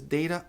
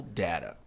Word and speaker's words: data: Dados, plural, é essa palavra que troca o M pelo A, 2 pronúncias, data ou data.